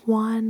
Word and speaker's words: Juan: you exhale, J, and J looks like J, but we don't pronounce it as J. And I think you know about this because they are popular names like Juan or no way Jose. Jose, okay?